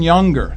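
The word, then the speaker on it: Junger: history it's great stuff Sebastian younger that's spelled juu n g r has written a couple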